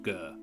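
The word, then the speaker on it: Ghur: GH you are good it is actually this pronounced gur nice one of the Winds of magic in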